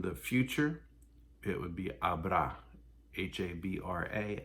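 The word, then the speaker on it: habrá: future it would be abra h-a-b-r-a accent only a um fiesta there won't be a lot of people at my party and so in none of these does the h get pronounced it's a you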